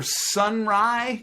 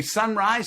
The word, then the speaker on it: Sonrai: perfect eric's the first name obviously cisso for sunrise do you say sunrise sun ray how do you pronounce it sunri sunri okay i missed it